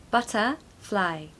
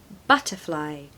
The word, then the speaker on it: butterfly: love butterflies pronunciation tip we want to have a schwa in the middle of the word so butter butter Not Butter no butter fly you want to stress the first syllable so but butterfly butterfly yesterday on our